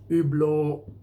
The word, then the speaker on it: Hublot: Hublot Hublot, you can't really talk about Hublot without talking about Jean-Claude Biver, but the French pronounce it Hublot. It's not Hublot or Hublot or whatever. They don't say the NT.